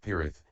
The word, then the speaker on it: Pirith: Paritta in Pali, Paritrana in Sanskrit, and Pirit, pronounced Pirith, in Sinhala mean principally protection.